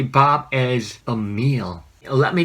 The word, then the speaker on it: 밥: Yes, bap, like Bob Dylan or Bob Marley.